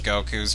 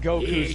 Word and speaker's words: Goku: I was only Okay, Kaiser pronounces Goku's name something like Goku. Emphasizing the U. Yeah, and except the thing is, it's not really pronounced with enough stress on the O to make it correct to the Japanese pronunciation.